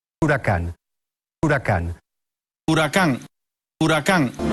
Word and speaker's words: Huracán: your instant rewind to New Horizons the Lamborghini Huracan hurricane hurricane hurricane hurricane hurrican and now that you know how to pronounce it coming soon the replacement to the